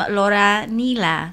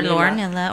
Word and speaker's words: Lauranilla: for Magdalena by Lauranilla. Or Lauranilla, or Lauranilla. Or Lauranilla. So I'm not a tortilla, I'm a gorilla.